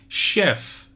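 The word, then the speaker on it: chef: معنای آشپز معنی میده شف شف به معنی سرآشپز شف دقت به تلفظش داشته باشید شف معنی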